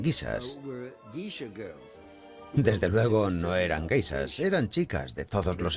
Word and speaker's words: geishas: Los soldados oyeron hablar de las gaisas, guisas, como ellos pronunciaban.